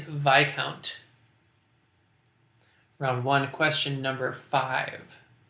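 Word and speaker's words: viscount: just above a bearing with a name that contains a silent s and that rank is vi count round one question number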